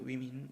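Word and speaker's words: women: 저기 얘는 발음이 좀 독특해요. 이렇게 위민이라고 읽어야 돼요. 위민.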